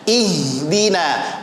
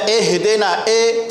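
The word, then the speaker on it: اهدنا: panjang wih gila diperhatikan ihdina aja Ki membaca eh denae tidak tepat sempurnakan batas bawah ih bunyinya bukan eh ya Ih dinas hirohman ya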